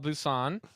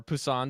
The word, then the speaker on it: Busan: teammates yep we're gonna be talking all about Busan or Pusan depending on how you pronounce it and we're gonna get just burned